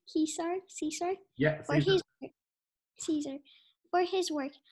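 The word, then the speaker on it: César: Grant has received a Golden Globe, a BAFTA, and an honorary Caesar. Did I say it right? Caesar.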